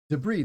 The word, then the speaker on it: debris: had this week debris debris this is a very French word debris when you look